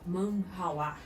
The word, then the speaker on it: manhwa: legal, que são os manhwa. Não é mangá, é manhwa. Então, a pronúncia é diferente.